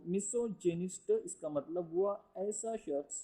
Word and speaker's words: misogynist: Form बन गई miss, और गाइन जब इंग्लिश में आया तो वो जैन यानी कि जेनिस्ट, इस तरीके से उसकी प्रोनाउंसिएशन होगा, इसे भी ख्याल रखें। तो मिसोजेनिस्ट इसका मतलब हुआ ऐसा शख्स जो औरतों से नफरत करे।